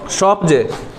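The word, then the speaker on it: Skopje: शॉपजे। Spelling को क्या लिखे हैं? SKOPEJE, SKOPEG, लेकिन पढ़ेंगे क्या इसको, क्या पढ़ेंगे? शॉपजे।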